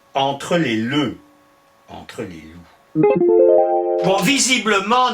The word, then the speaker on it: loup: les leux, entre les loups. Bon, visiblement, nos aïeux hésitent entre la prononciation le et la prononciation loup. Bon, finalement, c'est loup qui l'emporte.